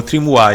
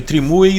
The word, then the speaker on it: Trimui: Minha próxima opção é o Trimui Smart Pro ou Trimui. Eu acho, acredito que a pronúncia correta seja essa.